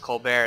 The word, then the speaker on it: Colbert: For those of you who don't know, Colbert is actually pronounced Kolber. It's a French name. And, yeah, the T is silent.